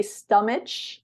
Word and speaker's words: stomach: it it should be stomach but it's not we pronounce it like a k so it's stomach and